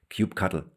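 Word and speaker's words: kubectl: To prepare that, let's talk about how we interact with Kubernetes, especially how we use the command line tool cubectl or how we like to pronounce it, cube cuddle.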